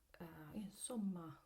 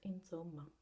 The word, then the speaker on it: insomma: And so I'd like you to focus on the way we pronounce this S, because this word should be pronounced insomma with a soft S, while as we go south, usually it becomes a harder S, kind of like a Z, especially when in Rome, they tend to pronounce it insomma, so it becomes really a Z in the pronunciation.